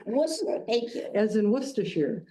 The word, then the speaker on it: Worcester: who are in the Worcester area, we do pronounce it Worcester. Worcester. Thank you. As in Worcers. I should have asked that questioning earlier. Any telemarket, anybody I talk to for credit card or anything, it's always Wararchchester.